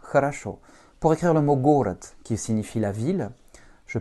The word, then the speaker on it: город: Mon second O étant inaccentué, il va se prononcer comme un petit A, et mon D étant une consonne voisée, va se dévoiser, puisqu'elle est en finale. Donc elle va se prononcer comme un T. Это город, et pas город.